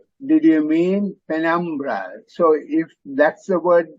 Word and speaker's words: penumbra: can look up so hear the stresses on the second syllable penumbra and penumbra again another